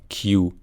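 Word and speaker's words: queue: به معنی صف هست فقط کافیه حرف اولو تلفظ کنیم کیو یعنی اون چهار تای آخری تلفظ نمیشه انگار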